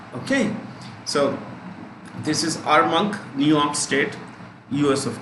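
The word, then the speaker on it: Armonk: state new york state a r m o n k m o n k is not monk it's monk like old monk okay so this is our monk new york state u.s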